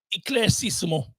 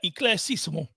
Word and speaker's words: éclaircissement: I know you are, and I'll tell you there is an R, but I said it the way that they pronounce it. Here you go. Éclaircissement. That is how it is said. Éclaircissement.